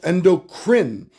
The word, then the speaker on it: endocrine: It is pronounced endocrine.